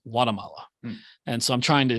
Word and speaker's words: Guatemala: originally a native of Guatemala but he was saying it without the hard G more like like Guatemala and so I'm trying